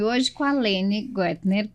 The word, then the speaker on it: Goettner: E hoje com a Lene Goettner, pronunciei certo? Goethe, ó.